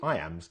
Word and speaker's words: iamb: The word iamb is pronounced just like the phrase I am.